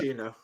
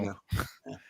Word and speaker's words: maraschino: I can't pronounce that. Maraschino. Yeah, there you go. Maraschino.